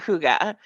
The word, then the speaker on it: hygge: Hy G G right yeah but it's you pronounce it Huga and I did I chose it as the